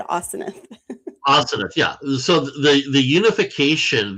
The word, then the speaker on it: Asenath: When I looked up the pronunciation, it said Asenath.